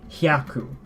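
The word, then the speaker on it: 百: to 100 or 100 something, you simply say hyaku.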